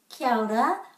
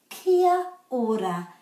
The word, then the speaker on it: kia ora: kia ora kia ora but most times when you hear a maori people person saying it you'll hear them say so they're putting the a and the o together to make ao that's how to pronounce kiara kakite